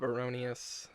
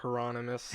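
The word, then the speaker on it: Heironimus: Russ Buchanan, a close friend of Bob Aronius. I keep purposely saying his name wrong. He sounds like a medieval villain. Bob Hieronymus.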